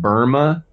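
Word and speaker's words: Böhme: his name does it's pronounced Burma but it's spelled b-o-h-m-e Jacob j-a-k-o-b b-o-h-m-e is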